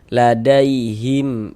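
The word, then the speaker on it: لديهم: Ladaihim id, jangan dibaca him dipanjangkan, itu jangan, salah, pendek saja.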